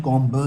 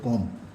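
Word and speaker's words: comb: लेट अस कॉम your hair, इसका pronunciation कॉम ब नहीं होगा, ये प्रोनाउंसिएशन होगा कॉम।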